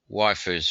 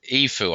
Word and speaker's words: Ifu: Waifu's found it, yes. Or Ifu, I think you're telling me it's pronounced. Let's go back to... How do you pronounce it? Is it Ifu?